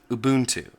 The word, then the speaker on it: Ubuntu: it Ubuntu the corre the close to correct pronunciation here is Ubuntu and my reference for this is Mark shuttleworth